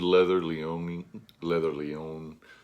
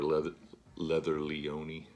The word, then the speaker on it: Leather Leone: And I mentioned Leather Leone. Sorry, I always called her Leather Leone, but I believe that her name is actually pronounced Leather Leone.